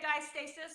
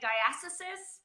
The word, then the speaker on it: diastasis recti: I say diastasis. Some people say diastasis. I think it's English, American.